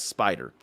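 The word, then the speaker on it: Spydr: project y can now be referred to as spider and yes it is spelled as capital s p y capital d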